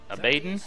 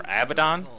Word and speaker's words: Abaddon: last but not least abayden or abaddon depending on how you'd like to pronounce it is going to